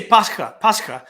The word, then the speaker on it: Pascha: pasca yeah we say pascha it's a he which is an x which is pronounced like an aspirated h in greek pascha um wow oh